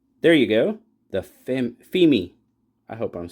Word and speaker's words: Pheme: this is the E18 FEI if FEI if Google didn't lie to me FEI is how you pronounce it pH M but yes